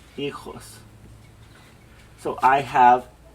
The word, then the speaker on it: hijos: Yo tengo 2 hijos. So I have 6 children. I have 4 daughters, hijas. Notice the H is silent, right? So we don't want to pronounce that H.